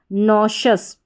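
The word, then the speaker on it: nauseous: ई श और ओ यू एस अस शस नोशस पूरी स्पेलिंग बन गई नोशस नोशस का हिंदी अर्थ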